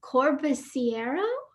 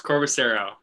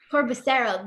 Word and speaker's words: Corbisiero: Corbisiero? Did I say it right? Close. Corbisiero. Corbisiero. You don't say the I.